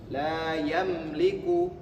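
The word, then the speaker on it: لَا يَمْلِكُ: Dan dibacanya mimnya jelas tidak ditahan. La yamliku bukan la yamliku seperti itu.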